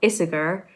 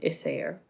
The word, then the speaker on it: Issager: isaiah isaiah isaiah isaiah basically the g is more like a yeah a yeah yeah um so her name is helen issayer um and this is